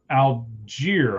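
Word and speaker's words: Allgeier: Tyler Alier, I believe is how you say it.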